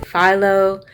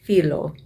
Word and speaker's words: phyllo: greek they pronounce it phyllo in greek it is actually pronounced filo for the leaf because